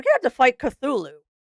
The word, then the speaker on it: Cthulhu: We're going to have to fight Cthulhu. Cthulu.